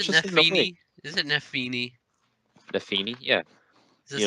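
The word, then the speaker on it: Nephenee: Is it Nefini? Nafini, yeah. Is this how The it's Nobly girl. pronounced? It's Nafini, yeah, Really?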